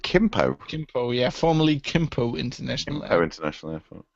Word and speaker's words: Gimpo: Oh, apparently they pronounce it Kimpo.